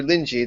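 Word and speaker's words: Linji: here according to master lyi that's the Chinese way to pronounce rinai the Japanese way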